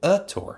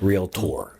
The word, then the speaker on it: realtor: So it's not real a tour. No, that's right. It's realtor. I I I I leave out the A, but I deemphasize the O. Yeah. Realtor.